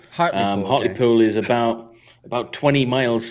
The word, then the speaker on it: Hartlepool: does he know uh harder pool do you know heartipul yeah so hot i would pronounce it hartley pool um hotly pool is about about 20